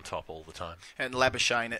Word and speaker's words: Labuschagne: Well, I sort of feel awkward about it because it is Labuschagne, and that's how it's pronounced in South Africa.